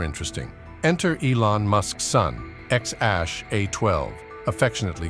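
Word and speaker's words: X Æ A-12: with his dad let's start with the name X Ash a 12 musk was later changed to just X to follow California's naming rules it's pronounced xash a12 while it sounds more like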